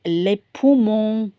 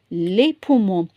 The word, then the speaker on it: les poumons: Look here, les poumons. Whenever they say, because we're not going to pronounce the S in French.